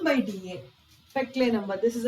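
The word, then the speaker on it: Péclet: न्यू टम one more dimension less टम called पेले number पेले number spelling इ प सी L eighty T silent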